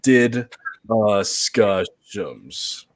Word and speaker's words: DDiscussioMs: This is the pronunciation if you're still stupid, but this is DDiscussioMs.